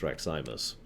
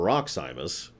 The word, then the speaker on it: Raximus: That's why I call him Rax, because he told me it's Raximus. It took a bit because I wanted to call him Roximus, because that's how I pronounce things.